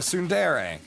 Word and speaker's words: tsundere: You're a tsundere. Is that how you say it? Yeah, I'll be careful.